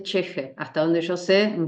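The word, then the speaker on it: ch'ixi: ¿Cheje es una palabra japonesa? Es quechua, no, porque Silvia Cusicanqui es una antropóloga boliviana, se escribe Chixi. Okay. Se escribe CH''Ixi. Ajá. Y se dice cheje.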